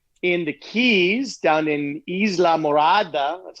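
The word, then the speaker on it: Islamorada: a friend down in the keys down in isla murada that's how you pronounce it what's the weather like oh it's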